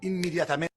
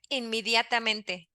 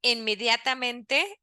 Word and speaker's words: inmediatamente: He said inmediatamente, right? We know letter E in Spanish, named E, is pronounced this way. E, E. He's saying inmediatamente is not a native pronunciation in Spanish.